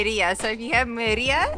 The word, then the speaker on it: Mérida: up, but I mean it is a Spanish word, so I had to pronounce it Merida.